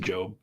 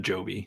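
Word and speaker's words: Jobe: so which which one it's just Jackson job it's not Joby it it really should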